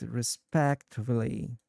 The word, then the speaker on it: respectively: respectively. Yes, you've got it perfectly. The word respectively is is pronounced as respectively with the emphasis on the second syllable.